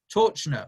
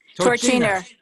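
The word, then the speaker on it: Torczyner: I've got here, and it's in the packets as well, Rabbi Mordechai Torchner from Toronto, who's the Rosh Kollel there. Did I say his name wrong? Torchiner.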